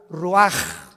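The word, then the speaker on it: רוח: Roach así como suena se pronuncia la c en hebreo como J ruaj se le salló y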